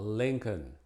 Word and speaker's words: Lincoln: como madera no y algunos nombres propios no se produce la l como Lincoln en una gran decepción